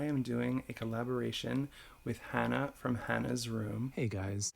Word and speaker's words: Hana: really know why, but every time I said her name in this video, I called her Hana, but then I remembered as I was editing that she definitely pronounces her name Hana. So, just be aware of that. I call her Hannah through this whole thing.